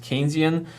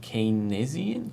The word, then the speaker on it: Keynesian: the way yes this word is in fact pronounced keynesian i you know at first when i saw it written i was like canezian can kind kinesian no it's it's apparently as far as i